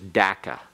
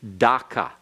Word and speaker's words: Dhaka: of a K, and there is no such thing as an A sound in Bengali, and so it should be Dhaka. In fact, Bengali has 4 Ds. It has, your tongue goes in different positions in your mouth. And the D for Dhaka is a D that goes along the alveolar ridge, that ridge right behind your teeth.